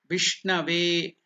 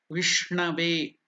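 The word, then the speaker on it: विष्णवे: Vishnave, Vishnave. The N is pronounced differently. It is not the Na. It is Ana. The tongue should touch the palate above. Murdhanya. Ana. Vishnave.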